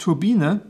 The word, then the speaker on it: Turbine: turbine by the way in German the name is pronounced turbina the turbine or turbina